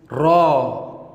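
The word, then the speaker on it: راء: The next letter is ra, ra, ra. Like in English letter, we pronounce R, R, R for rain. Ra in Arabic makes same sound.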